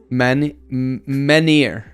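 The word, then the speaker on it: menhir: We also says in XL, you don't pronounce the H in menir.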